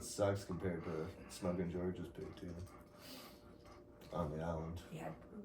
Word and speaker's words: poutine: No, I had a poutine, but their poutine sucks compared to Smokin' George's poutine on the island. You had poutine. Poutine, How do you pronounce it anyway?